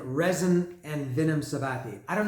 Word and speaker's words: REZN: It's R-E. Some might say Z. I would say Zen, REZN, and Vinnum Sabbathi.